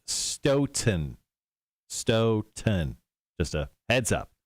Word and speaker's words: Stoughton: graphics and he says tell cotter it's starting pronounced stone stoughton s-t-o-w t-o-n he goes i am actually 20 minutes from there to be fair totally not how they spelled it anyway it's pronounced stoughton 10 just a heads up sure just like